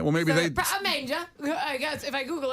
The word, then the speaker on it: manger: Manger.